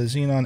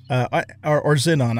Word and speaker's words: Xenon: Xenon. I think I'm actually supposed to pronounce it Xenon, but I'm so used to calling them Xenon that I might just keep doing that just because I'm old.